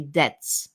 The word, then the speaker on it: debts: Remember that B in the word debts is silent, so we don't pronounce the letter B. So we say debts, simply debts.